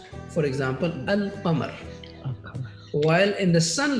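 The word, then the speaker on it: القمر: In the moon letters, the lam of al is pronounced. For example, al-qamar.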